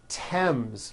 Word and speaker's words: Thames: Although these next words and names are spelled with a TH, they are pronounced as if they were spelled with a normal T, like that. And these words are Thomas, Thompson, Teresa, Thailand, Thames, like the river, Esther, and thyme, which is a spice.